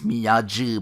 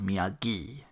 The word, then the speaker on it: Miyagi: I'll go with you Daniel thinks miyaji before being corrected about the hard G Miyagi Daniels but what kind of build do you have miyagi's canvas JCPenney 390.